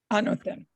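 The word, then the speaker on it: ἄνωθεν: The Greek here is pronounced anothen.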